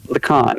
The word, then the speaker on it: Lacan: Lacan.